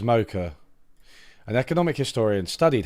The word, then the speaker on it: Mokyr: More people seem to think Mocha. Mocha. I think it's Mocha.